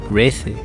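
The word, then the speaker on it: Reze: In my case I like saying Reise, but I think considering what Google Translator says, the name is Reise.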